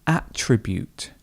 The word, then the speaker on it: attribute: This word can have two different ways of pronouncing it, depending on whether you are using the verb or the noun form.